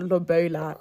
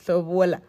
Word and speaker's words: lobola: It's Lobola. Don't get English. It's not Lobola. It's Lobola.